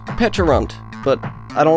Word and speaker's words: Pecharunt: to Pokémon today I'm going to be catching peekar run recently I found out it's actually pronounced petun but I don't like that so I'm calling